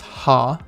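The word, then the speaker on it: は: like just like tah it kind of looks like it's spelling out the kana so it's ha and if you look here it looks like an h with an a and without the highlight it's like an h here with an a at the bottom ha okay ah spells out ha next is he and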